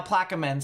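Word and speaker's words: Plaquemines: all right so yeah people are saying now plaque men's so that's probably what we're gonna go with it's pronounced Ash instead of hatch Ash so Point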